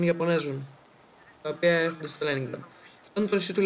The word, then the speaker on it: Leningrad: Να το προφέρετε σωστά, λέγεται Leningrad.